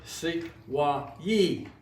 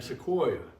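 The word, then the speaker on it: Sequoyah: Sequoia, for example, according to Mooney, it was pronounced Sequoyee, but it became Sequoia over the years.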